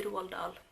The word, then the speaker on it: Roald Dahl: I don't know how you say his name in English. In Norway we say Roald Dahl.